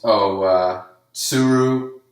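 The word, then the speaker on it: Otsuru: town we see hope Oh suru because they don't really pronounce the t's not to Saru it's sue I guess Oh soon anyways o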